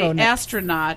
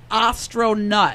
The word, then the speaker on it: Astronutt: With our friend here, Don Astronutt. Astronutt. I keep wanting to say astronaut. I know. Like Neil Armstrong, but it's Astronutt.